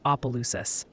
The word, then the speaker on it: Opelousas: He also dropped some knowledge from the pronunciation police for you. Nakatosh's is Nakadish, and Opelousas is Opelousas.